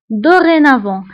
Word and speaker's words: dorénavant: كيعنيو من الآن فصاعدا دورينافون فبالنسبة لدورينافون هنا أيضا أو نكتبها بأكسون إيغو وبالنسبة للتي فنكتبها في آخر الكلمة ولكن لا ننطقها فقلنا بالنسبة لديزورمي ودورينافون